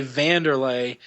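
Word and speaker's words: Wanderlei: spell w n d but it's pronounced with a V so you say vanderlay but like his nickname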